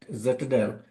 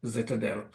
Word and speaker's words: Zitadel: Foster who is the CEO and co-founder at zadel that's spelled z i t a d l zadel um Florian welcome it's great to have you